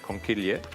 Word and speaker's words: conchiglie: As I said before, the pasta that I'm using for this dish with the broccoli is conchiglie, which is the new pasta that we've launched with Woolworths.